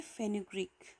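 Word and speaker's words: fenugreek: मेथी को कहते हैं इंग्लिश में फेन्युग्रीक. फेन्युग्रीक, ओके, प्रोनाउंस इट वेल, फेन्युग्रीक.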